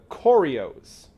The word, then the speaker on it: Koryos: But they were roughly referred to as the Koryos. K''O''R''Y''O''S. Koryos. I think that's how you would pronounce it.